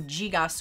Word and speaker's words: gigas: greek and latin and i believe it's pronounced you know gigas with that j sound meaning big large giant